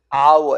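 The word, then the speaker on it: hour: 아워, H 발음이 안 되잖아, 그치?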